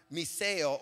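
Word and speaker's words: μισέω: That word hate in the Greek means, it's pronounced miseo, or actually in miseo, and it means to pursue someone with intent to harm them.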